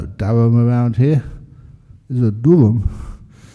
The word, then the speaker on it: Durham: I should actually I pause there because Darham is the way that most people pronounce that uh town or city over in UK but that's not the right way to pronounce it.